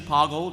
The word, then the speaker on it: Poggle: okay toggle the Lesser so official pronunciation Poggle runs with Boggle uh number of dialogue